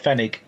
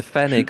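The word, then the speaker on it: Pfennig: spelled it's bizarre spelling it's spelled p f n n i oh okay right spig must be silent P like like Rick yeah yeah yeah the fenig or penny is a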